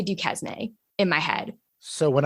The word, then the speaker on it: Duquesne: like into the speech, but it's a French word. So that's why it's spelled that way and it sounds that way.